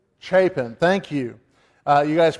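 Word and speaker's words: Chapin: Chapen.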